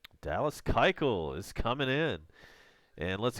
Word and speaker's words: Keuchel: discussion about Braves acquisition Dallas Keuchel or a Keuchel I should say Dallas Keuchel is how you say that five four three